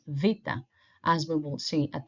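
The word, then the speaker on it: βήτα: makes the sound V V is what you have maybe heard before as beta okay the correct pronunciation is Vita as we will see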